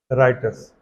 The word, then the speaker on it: Reuters: तो वर्ल्ड की एक फेमस न्यूज एजेंसी है राइटर्स, REUTERS, राइटर्स, REUTERS, राइटर्स, राइटर्स, REUTERS, लेकिन बोलते हैं उसको, प्रोनाउंसिएशन क्या करते हैं? राइटर्स।